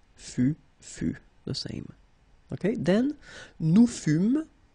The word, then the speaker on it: fûmes: Okay, then, nous fûmes, final S not pronounced.